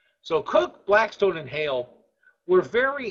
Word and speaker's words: Coke: um also uh cook although the word looks like it's pronounced coke uh that's c k but it's pronounced C so cook Blackstone and hail were